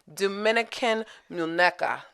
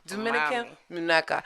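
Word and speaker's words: Dominican Muñeca: Dominican Muneca. Did I say it right that time? Yes, ma'am. Dominican Muneca.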